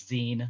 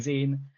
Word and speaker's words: zine: Um, yes, the correct pronunciation is Zen, not Z. Uh, so I will be saying Zen.